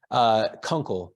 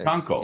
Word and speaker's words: Kunkel: Do you pronounce it Kunkel? Kunkel. So Kunkel.